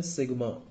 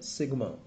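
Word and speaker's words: σ: और इसको हम क्या प्रोनाउंस करते हैं? सिग्मा. क्या प्रोनाउंस करते हैं? सिग्मा.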